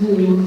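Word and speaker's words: Lleu: For example, we knew that in the fourth branch of the Mabinogi, the character Lou, it should be actually pronounced something like Clay in Welsh, but the anglicised version is Lou, the same deity as Lud, after whom Londinium is known.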